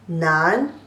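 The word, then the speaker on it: 南: It's pronounced as ne, an, nan, second tone.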